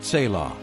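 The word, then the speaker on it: צלע: That word is tzilah, pronounced tselah.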